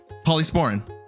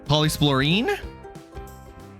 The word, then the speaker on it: Polysporin: Polysporin. Are you going to tell me it's pronounced differently? Polysplorine? Did I say polysplorine? It's polysporin. I know it's not polysporine. If I sure did.